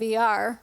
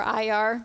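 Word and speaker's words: Iyar: You know, it's interesting because we just this week crossed over into the month of ER or IR, depending on how you pronounce it.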